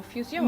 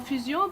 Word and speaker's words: Fusion: And that's why you named it Maison Fusion. Maison Fusion, because That makes a lot of sense, actually. you can pronounce it in French, fusion, Right? or in English, fusion.